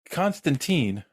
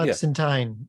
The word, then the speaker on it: Constantine: Constantine. Yeah, they call her Constantine, not Constantine, even though it's, because it's the correct British pronunciation.